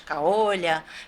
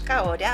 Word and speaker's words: Kaori: Eu sofria bullying na escola, as pessoas me chamavam de Kaolha, Kaoli, enfim, me chamavam de tudo menos de Kaori.